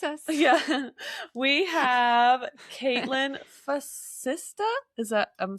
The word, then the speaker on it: Facista: We have Kaitlyn Facista. Is that... I'm saying it right. Facista?